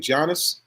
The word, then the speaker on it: Giannis: Giannis.